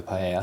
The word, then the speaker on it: paella: It was quite important with a paella.